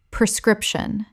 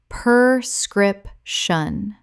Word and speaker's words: prescription: prescription Common mispronunciation. per-scription Correct pronunciation. pre-scription The first syllable is pre, not per. A very common confusion.